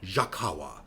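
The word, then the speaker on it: Jacagua: visit a region called Jacawa. Jacawa. Is that right? Jacawa. It looks like a mashup of the name Jacqu and Nicaragua. Jacawa. But that is in fact how it's said.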